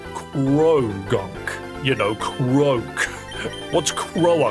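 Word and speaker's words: Croagunk: Cuz it is crow gunk. Like you do pronounce the N. It's not pro gunk. It's gunk.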